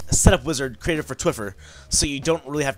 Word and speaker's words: Twphper: I created Twphper, and yes, it's pronounced Twphper. The PHP makes kind of a funny sound.